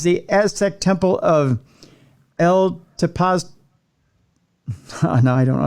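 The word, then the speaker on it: Tepoztlán: How do I pronounce this? Tepoztelan. So Tepoztelan. Tepoztelan. Yeah, that would be it.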